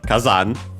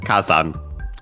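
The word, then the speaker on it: 火山: Uh see okay let's check it's accent okay actually accent on the first syable so kazan kazan uh yeah literally fire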